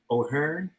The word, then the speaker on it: O'Hearne: host king and i'm sitting here with o'hare i pronounce it correctly you are thank you so